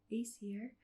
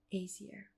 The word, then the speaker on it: Aesir: I have realised that throughout the video I have said Aesir and give it a soft S instead of Aesir. Should be more like a Z.